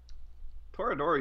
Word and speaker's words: Toradora: But like like they made multiple for Toradora, and I've never pronounced that one right either. Orimo. Toradora you had right.